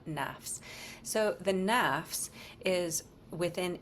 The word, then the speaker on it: nafs: talk a lot about the word nafs that some of you even mentioned it's spelled n fs and that's a singular word nafs it just happens to have an s on it so then we think that it's a plural thing it's not nafs so the nafs